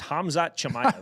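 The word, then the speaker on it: Khamzat Chimaev: His name is Hamzat Chamaya. There you go. Yeah, it's a tough one. He's from Ch. Let's say there you go. Hamzot. There we go. Hamzat Chamaya.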